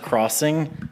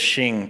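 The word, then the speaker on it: Xing: I think it's pronounced Crossing, but it says Shing too.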